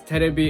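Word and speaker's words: テレビ: And I knew that was wrong, but it kept coming out because terebi is TV in Japanese, but my brain was just wrong and I would say televi.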